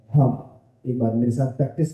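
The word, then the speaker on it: हं: मंत्र है वो है हम यानी कि हो हो से ह हो के ऊपर एक बिंद जब हम उसका उच्चारण करते हैं तो कहलाता है हम अंग्रेजी की बात करू तो एच ए एम हम एक बार मेरे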